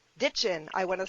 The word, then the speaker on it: Ditgen: chemistry Brett Dickon and I say that properly ditchin ditchin I want to say it right because names